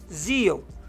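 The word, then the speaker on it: Xeon: tá se a palavra se escreve x e o n mas se pronuncia Zion como se fosse z i o n tá mas se escreve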